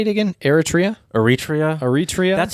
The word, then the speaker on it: Eritrea: read about was um is it eritrea or etria eritrea thank you i think that's how